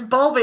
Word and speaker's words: Bowlby: Bulby. Bowlby. Bowlby. Bowlby. How do you say bowl, Corey? Bowel. Yeah, but it could be Bowel. bowel. It's bowel. It's bow. It's B-O-W. Bowlby, okay, it's Bowlby.